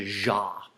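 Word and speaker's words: Xia: first dynasty was the jaah even though it's spelled a little differently we pronounce it with the jaah and all of the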